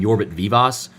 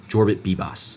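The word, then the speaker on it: Jorbit Vivas: I was saying Jorbit Vivos. It's you pronounce the J in the first name. Jorbit and then it's BB boss like B- A Jorbit Boss.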